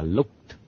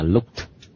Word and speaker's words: looked: Cái chữ này đọc là looked. Này là look, đúng không? Yeah. Thì đọc nó ED là looked, âm thi thôi.